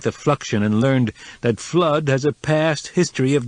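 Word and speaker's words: Fludd: by the name of f l u d d pronounced flood coko put the idea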